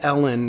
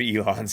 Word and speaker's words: Elon: Do you think Ellen...